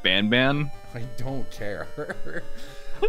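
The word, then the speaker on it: Banban: you were afraid of Garden of bon bon it's called It's pronounced ban ban I don't care all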